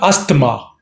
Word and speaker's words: asthma: yeah what is this it's not asthma it's asthma asthma the th is you might find you might say it's kind of dropped drop it but you have it's there very slight asthma oh asthma as stressed as the second syllable asthma or asthma not asthma we'll continue with this